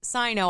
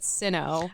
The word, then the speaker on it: Sino: Um, well, we learned a lot more about the RussoJapanese War and then the SinoJapanese Wars, including that apparently it's Sino. I always said Sinno.